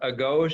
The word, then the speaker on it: Agoge: So I think it's pronounced Agoge Academy, and I may be wrong, but I think it's Agoge Academy.